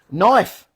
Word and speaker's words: knife: on so English lesson knife the K is silent tsunami the t is